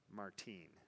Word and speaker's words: Martin: al gust and zelly martine her last name was martin m-a-r-t-i-n pronounced martine so auguste and zele